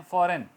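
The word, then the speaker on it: foreign: इस तरह रिज़ाइन, इस्तीफ़ा, रिज़ाइन GN होगा मगर बोला N जाएगा, रिज़ाइन G silent. फॉरेन, फॉरेन country में अब जाते हैं, फॉरेन, फॉरेन फॉरजन नहीं कर जाएगा, फॉरेन।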